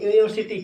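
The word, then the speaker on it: university: बात करते हैं हम यूनिवर्सिटी की, तो यूनिवर्सिटी कैसे लिखते हैं, ये हो गया यूनिवर्सिटी। तो यहाँ पर प्रोनाउंसिएशन किससे हो रहा है, या से हो रहा है।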